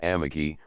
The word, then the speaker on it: Amagi: Amagi dice las casas, entre otros vales, es uno que se llamaba Amagi, la sílaba del medio breve, y creo que se denominaba del río que pasa por el dot.